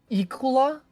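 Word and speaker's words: Iklwa: If anyone actually knows how to pronounce it, please tell me. Ikula. It's Yklwa.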